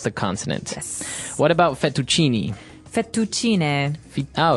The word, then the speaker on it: fettuccine: mushroom sauce, but the prawn fettuccine is also very nice.